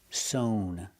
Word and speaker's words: sewn: And the participle is sown with the long o sound.